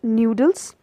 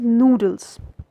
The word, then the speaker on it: noodles: onion but is noodles I have seen people saying it noodles but as you can see the spelling it is N double O not any W so the correct pronunciation is noodles next word is Wednesday